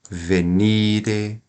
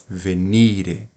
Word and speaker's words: venire: então percebam aqui ó a palavra venire ela tem três sílabas tem acento tônico não né não tem acento agudo então eu vou falar venir vai ser uma oxítona não não existe oxítonas em latim Então qual que nós vamos falar é a penúltima venire venire assim você nunca vai errar pronúncia aqui no nosso